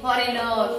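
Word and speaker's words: foreigner: द उच्चार करत नाही तुम्ही म्हणतात ना फॉरेन फॉरेनर फॉरेनर स्पेलिंग लिहायला सांगितलं कस लिहिणार तुम्ही स्पेलिंग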